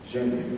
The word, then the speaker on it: Jamnia: Tem um M ali antes. Jamnia, é assim que se pronuncia.